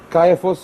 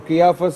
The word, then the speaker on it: Caiaphas: Caiaphas or Caiaphas is a different pronunciation.